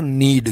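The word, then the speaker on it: knead: घुटता है इसका उदाहरण कन्नड़ नहीं है इसका उच्चारण है नीड के साइलेंट रहता है यहां पर तो सिनोन्यम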